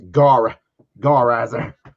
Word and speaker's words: Garizer: For full disclosure, now that I'm able to say it's on stream, it's actually pronounced Garizer. I found myself trying to be clever and making it sound more like a Japanese tokusatsu superhero.